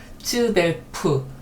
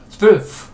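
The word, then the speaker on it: zwölf: 그래서 우리 성격 같아서는 딱 츠벨프 그러면 딱 좋겠어요. 그런데 그렇게 발음되지 않습니다. 이게 하나의 소리로 나야 돼요. 말도 안 되는 거지만 츠벨프 이렇게 그러니까 앞에 츠는 살짝 스치듯이 츠벨프 이 정도로 납니다.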